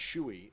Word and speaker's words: Shu: minute of every game Emma Shu actually I believe it's pronounced schooi i'm a schooi a freshman from mason